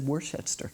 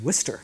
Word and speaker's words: Worcester: I'd said Worshettster. That's what it sounded like, but it's Worcester.